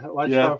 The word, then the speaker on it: Ouachita: It was something I probably couldn't pronounce. Chikalaka Farm Fancy. Is that the Ouachita Pharmacy? Yeah, Ouachita Pharmacy.